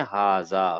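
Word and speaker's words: هذا: हजा लिखा हुआ है।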